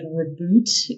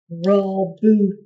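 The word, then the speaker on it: Roboute: I said something like reboot Gilliman, and everyone's like, Roboot.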